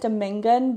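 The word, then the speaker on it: domingon: And also, I'm confused cuz on the audio book he pronounces it Domingan, but written down it looks like it would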